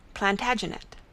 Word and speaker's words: Plantagenet: covered with his visor the latin name for broome is planta genista and gradually it came to be pronounced plantagenet although jeffrey was french